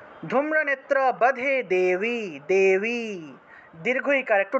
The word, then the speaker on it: ধূম্রনেত্রাবধে: ধূম্রনেত্রাবধে দেবী, ধূম্রনেত্রাবধে দেবী, ধর্ম কামার্থদায়িনী, রূপম দেহি জয়ম দেহি, यशो देहि द्वेषो जहि ধূম্রনেত্রাবধে বধে व যেখানে ব পাবেন সেই জায়গাতেই ওয়া হিসেবে উচ্চারণ হবে ধূম্রনেত্রাবধে দেবী ধর্ম কামার্থদায়িনী রূপম দেহি জয়ম দেহি যশো দেহি দ্বিষো জহি।